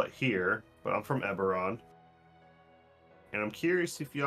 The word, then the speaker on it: Eberron: a different and she she pronounces it incorrectly by the way she says everon um being a difference on the B B yeah eberron oh thought that was a v never mind um uh